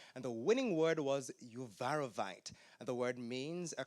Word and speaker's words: Uvarovite: Am I pronouncing the word correctly? Uvarovite. Yes. Uvarovite.